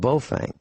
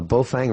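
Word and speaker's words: Baofeng: And the least expensive two-way radio, and we've talked about this last week, is made by a company called Bofang. And a Bofang radio is, let me see if I can find one.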